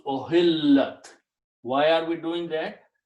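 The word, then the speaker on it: أُحِلَّتْ: If the thing which is being made halal is a feminine thing, then we put a ta at the end and pronounce ohillat.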